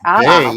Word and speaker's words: Weil: So Simone Weil, it's actually pronounced Weil. Well, I checked, and every single one said Weil. So yeah, well, I did my homework, and she is French, and so it's pronounced Weil.